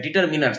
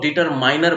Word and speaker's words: डिटरमिनर: इसको डिटरमाइनर कहते हैं, डिटरमिनर्स कहते हैं। इसका सही उच्चारण होता है डिटरमिनर। लोग डिटरमाइनर बोल जाते हैं, डिटरमाइनर नहीं होता है, डिटरमिन होता है।